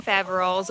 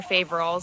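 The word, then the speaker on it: Faverolles: mothers then we have salmon faval or faval I've heard it pronounced both ways they're really friendly they're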